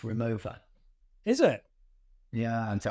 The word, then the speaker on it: Rimowa: The fun fact for you is actually pronounced Rimowa. Is it? Yeah, and so I always called it Rimowa, and I met someone from Rimowa, and then they corrected it and said it's Rimowa.